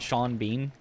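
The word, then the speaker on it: Sean Bean: Brian just knew to actually pronounce it Shaun Bean. Yeah, if you want the actual reason, it's because of Irish. The bean, of course, should make perfect sense, but the Shawn part is Irish.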